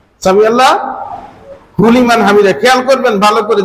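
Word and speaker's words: سمع الله لمن حمده: এই লিমান হামিদার জায়গায় এটা হা, এই হা উচ্চারণ না হলে অর্থের পরিবর্তন হয়ে যায়।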